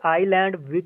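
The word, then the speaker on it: island: जी उसके बाद डेढ आईलैंड चीज साइलेंट आयरलैंड में क्या साइड है कौशल स्टाइल है तो आप जाहिर सी बात है इसमें एसडीओ है स्टाइल है इसको आईलैंड पड़ा जाते हैं गैस को नहीं पढ़ा जाता ठीक है जिम नेक्स्ट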